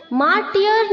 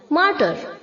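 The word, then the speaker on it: martyr: यहां पर जो बच्चों एम ए आर टी के आगे वाय है वो साइलेंट है उसे हमें प्रोनाउंस नहीं करना है मार्टियल नहीं बोलना है इसे मार्टर ओके वाई साइलेंट है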